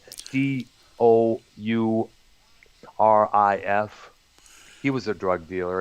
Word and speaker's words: Dourif: Also, we have Brad Dornoff. I think, did I pronounce that name right? Dourif.